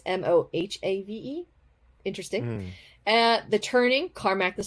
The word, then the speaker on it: Mojave: Rising, The Season of Vengeance, Ghost Mojave, but it's spelled Mojave, not Mojave, which is the correct spelling, but it's Mohave.